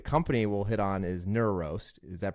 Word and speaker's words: NeuRoast: correctly too yes yeah it could be pronounced a couple different ways but we we typically say neurost okay so it has like the neuro in it um because again like